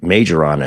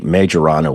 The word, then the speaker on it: Majorana: and by the way there's five or six different ways to pronounce the name of this thing majorana is easier to say so I'm going to go with that so you can come